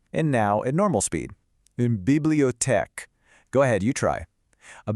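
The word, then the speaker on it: une bibliothèque: Next, we've got Unbibliotech. Now, it might look a little similar, but it's not the same. Let's try it out. Unbiblote. And now at normal speed. Unbibliotech.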